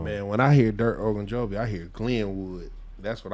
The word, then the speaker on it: Ogunjobi: Ogunjobi.